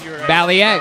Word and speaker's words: Balliet: Balliet.